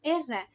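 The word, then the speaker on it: עזרא: Su nombre en hebreo se pronuncia como Erra y tiene múltiples significados.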